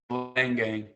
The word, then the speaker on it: Leingang: For all the fans out there that might think might be pronounced another way, let's hear it from you, Andrew. It is Leingang, correct? Correct, Leingang.